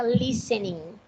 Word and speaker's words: listening: O T é mudo, a gente não pronuncia. Então fica listening.